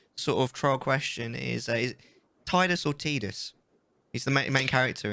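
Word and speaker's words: Tidus: this battle with me if somebody truly said that something was pronounced titus and it didn't spell it as t does no no it doesn't count it was t-i-d-u-s right yeah then yeah it's titus excellent thank you let's get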